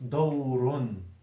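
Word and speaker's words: دَوْرٌ: Okay, dawrun is normally written with 2 dam on the ra. But in pronunciation, the tanween is what? It's a sukoon on the noon. Look, dawrun. That's how you pronounce it.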